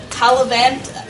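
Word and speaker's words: Taillevent: So that was actually a recipe, I don't know how to pronounce his name, Talavant. I know that there's a different French pronunciation. Pronounced like Taliban.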